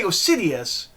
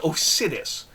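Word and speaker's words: Osidis: pronounce Oh sidess yeah because I want to say go Sidious it's not it's just oh Sidious Adam Oh Sidious so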